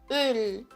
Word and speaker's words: Öl: Você faz um biquinho e fala a letra E. Ele fica assim, ó. Um exemplo de palavra é a palavra Öl.